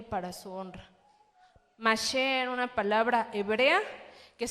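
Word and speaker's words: משה: Aunque en hebreo la pronunciación es Mashe.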